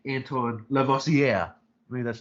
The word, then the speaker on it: Lavoisier: learning how to say french names like antoine lavoisier i mean that's how you say it lavocia lavoisier right that's like when hermione was teaching